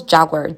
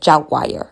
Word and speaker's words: Jaguar: The ladies who did the deep dive cover of this they pronounce Jaguar. Jaguar. So I had to check the pronunciation. Jaguar cut said Jaguar also does. However, I'm going to be saying Jaguar because that's what I'm used to.